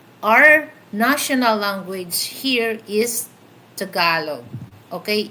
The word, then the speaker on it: Tagalog: Cuz I know my language is we have different different language here in the Philippines but our national language is Tagalog not Tagalog.